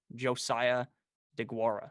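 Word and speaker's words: Josiah Deguara: interested in at all josiah de guara is how you say his name i was aware that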